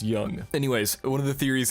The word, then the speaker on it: Jung: pissing your pants because I misspelled or I mispronounced his name. I'm googling it right now for you guys, okay? Oh, it's Jung. Okay, it's Jung.